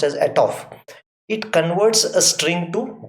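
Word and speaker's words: atof: function a to f a t o f at off it's pronounced as at off it converts a string to double so suppose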